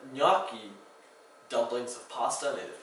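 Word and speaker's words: gnocchi: mozzarella is right there one thing to watch out for and Italian is there's often a silent G where you least expected the word naki dumplings of pasta made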